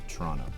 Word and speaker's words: Toronto: Toronto Toronto there's no you don't pronounce the T at the end DW was saying if you really really want to convince people you really know what's up like Toronto Toronto you take one